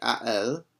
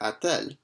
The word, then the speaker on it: a-t-elle: a and elle, and the reason why we do that is just because it makes it easier to pronounce it. It's much more challenging to say a elle than it is to say a-t-elle. A-t-elle has a bit nicer of a flow to it.